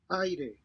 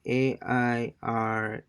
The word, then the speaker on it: aire: Okay, so basically, AI sounds it's pronounced like the English word I.